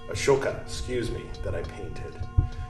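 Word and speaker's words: Ashoka: go ahead and bring in the pillar of a shoke a shoka excuse me that I painted when you when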